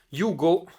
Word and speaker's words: Hugo: Hugo e Luigi, ma possiamo tranquillamente pronunciarlo Ugo e Luigi, che firmano anche le note del retro della copertina. e che sono, perché vi dico che possiamo dirlo in italiano? Perché erano due italiani, erano due produttori della